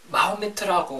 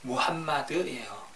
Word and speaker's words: 무함마드: 우선 마호메트라고 하는데 이 표현은 잘못된 발음이고요. 약간 영어식 발음 같은 건데 원래 이제 원어는 무함마드예요. 무함마드.